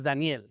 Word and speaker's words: Daniel: My name is Danielle because that's how you pronounce it in Spanish.